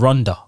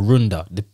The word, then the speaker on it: Runda: one is called the artist is called ronda or roonda depends on how you want to pronounce it and it's called roonda